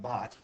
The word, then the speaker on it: baht: Max wants to convert 200 Thai baht. Is that how you say that? Thai It's bath?